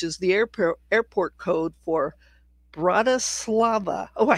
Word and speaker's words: Bratislava: it's BTS, which is the airport code for Bratislava.